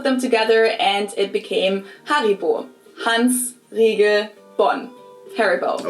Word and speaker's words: Haribo: We pronounce it Haribo. Haribo.